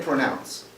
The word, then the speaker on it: pronounce: How do we say pronounce? Pronounce. Pronounce, right? It's two syllables and we stress the second syllable.